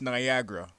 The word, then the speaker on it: Niagara: hello easy here well it's definitely pronounced Niagara like Niagara Falls in Ontario Canada